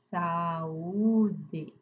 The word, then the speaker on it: saúde: Então aqui em saúde, dá uma mini pausa, abre o u três impulsos de voz. Saúde. Dá três sílabas.